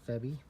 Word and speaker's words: Febi: OEM manufacturer, Febi. That's how you pronounce it.